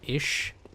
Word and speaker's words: Isz: opposed to Lauren or Ish Chalice. That's how I pronounce it. ISZ. Just seems like an Ish.